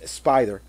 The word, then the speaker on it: SPDR: Y por último, y no menos importante, está la Build-A-Figure en sí, el mecha conocido como SPDR, pronunciado por muchos Spider, que es piloteado por la joven Penny Parker en el universo Tierra 14512.